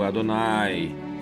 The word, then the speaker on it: Adonai: Adonai se escreve aqui do jeito que está aqui, ó. Adonai. É um som longo, Adonai.